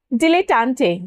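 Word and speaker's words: dilettante: Next is डिलेटंटे या डिलिटेंट। दोनों तरीके से हम इसे प्रोनाउंस कर सकते हैं।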